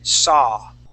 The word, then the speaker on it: saw: Okay, but when you have an AW sound, we only pronounce an ah, like law, straw, and saw. So we would not say sow, we would say saw. Okay, it's only an ah sound.